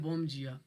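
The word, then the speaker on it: bom dia: Good morning को ये लोग कहते हैं बोम जिया।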